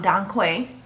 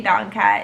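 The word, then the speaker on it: dong quai: using is chamomile um don quay i think i'm pronouncing that right i want to say don quay don kai is d-o-n-g and the next word is q-u-a-i um that herb is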